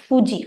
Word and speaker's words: Fuji: that case people cannot change the way of pronunciation right it is Fuji Fu so certain important words and all know